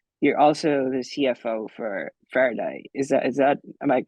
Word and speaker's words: Faraday: Of course, you're a co-founder for Fidata, which is the data company, but you're also the CFO for Faraday.